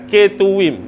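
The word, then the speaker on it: Ketuvim: Dan yang ketiga kh tu adalah K tuwim bukan ketum eh.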